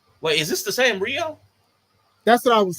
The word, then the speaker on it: Rhio: Wait, is this the same Rio?